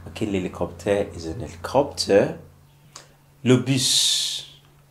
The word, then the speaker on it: bus: Le bus. Le bus. Okay? Le bus is a bus. Alright, so you know in French you don't pronounce the last consonant, but this is an exception, okay?